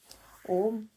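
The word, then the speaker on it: ॐ: ओम उच्चारणार्थ प्रथम उ बोलकर तत्काल अपने होठों को बंद कर ले। इस ओ उच्चारण में अ उ मिला है। इन दोनों को योग से ही ओ उच्चारण होता है। शेष रहा मकार वह दोनों होठों के मिलाने से स्वतः म बन जाता है। उसका नास का द्वार गुंजार कर प्रकट करें। इस प्रकार अ ओ मा के संयोग से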